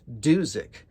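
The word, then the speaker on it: Dusic: song on side 2 called Doozik, which rhymes with music.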